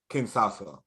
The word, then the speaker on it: Kinshasa: Kinshasa. You pretend that there's two H's. Pretend it's a Sha and a Sha.